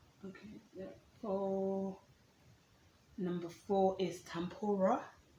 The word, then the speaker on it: tempura: then there is okay for number four is tampura tempura is spelt t-e-m-p-u-r-a let me know if you've tried